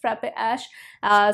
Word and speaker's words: Frappe Ash: That's how you pronounce it, Frappe Ash.